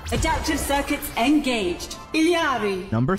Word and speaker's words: Ilari: Ilari.